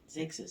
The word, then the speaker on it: Xerxes: Xerxes, how do you pronounce it?